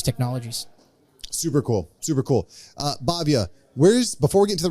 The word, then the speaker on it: Bhavya: Or on LinkedIn, you can search my name up, and that's spelled BHAVYA.